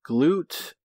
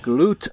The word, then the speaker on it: Glut: It's pronounced Glut, apparently. G-L-U-T, Glut, not glut, like we were saying.